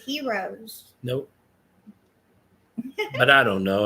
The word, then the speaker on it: gyros: It I think it's pronounced gyros. Oh, they said heroes.